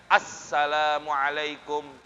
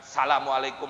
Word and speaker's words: Assalamualaikum: Yang penting apa? Assalamualaikum. Ada alif lamnya. Jangan salamualaikum warahmatullah. Salamualaikum. Ada nggak alif lamnya? Kurang. Salamualaikum. Harusnya apa? Assalamualaikum.